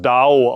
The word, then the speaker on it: dao: Akudo bedeutet das Lernen des Weges oder Studium des Weges und das Wort für Weg im Chinesischen wird es dao ausgesprochen und bedeutet auch die kosmische Weisheit.